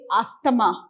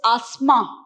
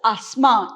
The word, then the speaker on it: asthma: the habit of saying astama but in the proper english it is not astama your th will be removed it's asthma how do you pronounce this asma the correct way in